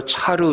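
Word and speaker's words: צר: 여러분 곤란 이라고 하는 그 단어가 히브리 말로 차로 이렇게 발음을 하는데 몸 짝 달싹 못하는 작은 공간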